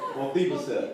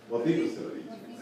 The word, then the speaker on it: Mephibosheth: Mephibosheth. That's it. It's Mephibosheth. Mephibosheth. All right. It's Mephibosheth. Mephibosheth. Mephibosheth. Like. Just call me. Yeah, chef. I know, but that's solid. Mephibosheth.